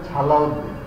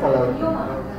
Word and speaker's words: সালাউদ্দিন: অনেকে দেখবেন স্যার, যেমন সালাউদ্দিন লেখে ছ দিয়ে, তাহলে এটা উচ্চারণ হবে ছালাউদ্দিন। কিন্তু না, দন্তের শাইকার শাহ লয়কাল্লা সালাউদ্দিন, এটার উচ্চারণ কি হবে বলছেন আপনি? এটা সালাউদ্দিন।